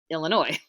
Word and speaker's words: Illinois: ticket to UM well Illinois mm-hmm no the S is silent want a ride sure